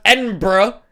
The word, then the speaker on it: Edinburgh: It's written EDINBURGH.